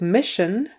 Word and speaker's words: mission: the next word is mission mission another sh sound in the middle there even though it's spelled with an SS but we still have